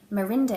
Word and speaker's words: Marinda: massive shawl wrap thing, Marinda is how you say Melinda in Japanese, because there is no L sound in the Japanese language, so that works out quite nicely as well.